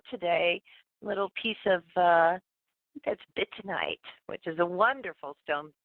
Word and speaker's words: bytownite: Little piece of that's bitonite, which is a wonderful stone. But bitonite is how I call it. It's spelled BYTOWNITE.